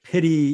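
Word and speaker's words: פְּרִי: 아, 그래서 페리 열매라고 하는 말인데 여기에서 이걸 페리 이렇게 할 수도 있어요. 또는 프리라고 이렇게 발음할 수도 있습니다. 그런데 현대 히브리에서는 이걸 프리 이렇게 얘기합니다.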